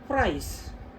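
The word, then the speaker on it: fries: അപ്പൊ അത് മിണ്ടാതിരിക്കുന്ന ആളാണ് പ്രൈസ് എഫ് ആർ ഐ ഇ എസ് അതിൽ പ്രൈസ് ഐ എസ് ഐസ് എന്ന് മാത്രമേ വരുന്നുള്ളൂ ഇ സൈലന്റ് ആയിപ്പോയി അപ്പൊ അങ്ങനെ കുറച്ച് വേർഡ്സ്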